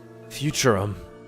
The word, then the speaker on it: Futurum: Futurum. That's the name of this planet. That's how it's sounded pronounced in the local tongue, anyway.